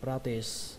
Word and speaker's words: practice: Từ này thì các bạn thấy thường xuyên, đọc là practice. Các bạn nhớ là âm sờ các bạn nhé, kết thúc bằng âm sờ, practice, practice. Ở đây trọng âm của từ này rơi vào âm đầu tiên, prag, prag, xuống giọng âm cuối, practice.